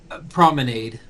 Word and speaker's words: Prominade: The Promenade or Promenade, how do you pronounce their last name? Promenade. Promenade. The Promenade family is preparing for another dinner party.